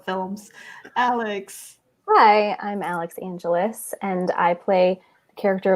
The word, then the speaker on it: Angelis: Alix Angelis. That's right. Okay, because it could be like Angelis, the whole syllable. It's like Los Angeles.